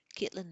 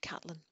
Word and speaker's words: Catelyn: Caitlin looked at Bran. Sorry, Catelyn. This is going to happen frequently throughout. It's Catelyn, it's spelled Caitlin to me.